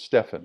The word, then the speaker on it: Stephen: you would call him stephen like dear brother steven here you're you're spelled the same way but ph is is fu not va so anyways i just